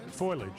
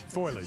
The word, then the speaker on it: foliage: Well, as you know, I leave I leave syllables out. Say it. Say it again. Caricature. Foliage. Yeah. Fil foilage. Foliage.